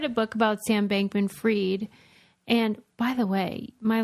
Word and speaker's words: Fried: book about Sam bankman freed and by the way my last name Theory his last name is bankman and then freed but it's spelled fried and like now he's